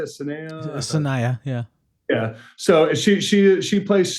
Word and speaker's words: Sanaya: Sanaya, yeah.